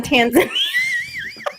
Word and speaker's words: Tanzania: Tanzania. I had to make sure I was saying it wrong. I had to double check. Yes. Occasionally poops on Tasmania. Tanzania. What? She just Okay. created a new country. It did. I don't even know how to say it how you said it. Tanzania. Tasmania. Tanzania is in Africa.